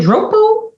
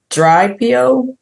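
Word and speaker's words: Driopi: Is it droop? Dry P. Okay. I thought it was like droop like Wait, spell it.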